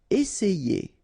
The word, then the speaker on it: essayer: Essayer. Remember, double S, really strong S, and then it opens the E.